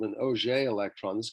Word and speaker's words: Auger: This electron, which is ejected in this manner, is called an Auger electron. This is called the Auger process. Auger is French, obviously, pronunciation. Doesn't have anything to do with orange juice.